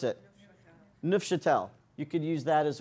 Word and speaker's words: Neufchâtel: Yeah, but you could use the the other stuff, the neuf, who knows how to pronounce it? Neufchâtel.